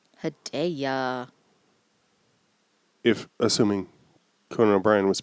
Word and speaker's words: Hedaya: According to an appearance on Conan O'Brien, it appears it's pronounced Hedaya. Hedaya.